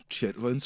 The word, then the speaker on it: chitterlings: They're pronounced chitterlings, just so we're clear. I do see that here. Creole chitterlings recipe. Yeah. And so, uh but you know, chitlins is really how you say them.